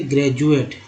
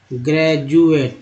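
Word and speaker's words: graduate: डी को ड तो बोलते हैं, ज भी बोलते हैं, जैसे ग्रेजुएट, ग्रेजुएट, ठीक है। ग्रेजुएट में डी को ज ही तो बोला गया।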